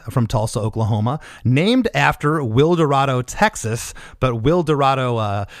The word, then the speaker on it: Wilderado: give a little backstory to the listeners uh wi Dorado is a rock band from Tulsa Oklahoma named after will dado Texas but will Dorado uh for Texas is